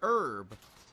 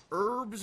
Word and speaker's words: herb: In America, in the United States, it's pronounced herb. Herbs and spices. In Britain, or England, or whatever you want to call across the pond, you guys pronounce it herb. But here we pronounce it herb.